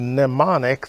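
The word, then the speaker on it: mnemonic: for some of you nemonic the m is silent um it is pronounced like it starts with an n and it means an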